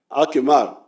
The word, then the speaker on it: Akimar: How do you say Aymar in Akaramojong? Akimar.